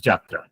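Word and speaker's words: যাত্রা: Now here we are using the Sanskrit origin word yatra and pronouncing it as jatra, right?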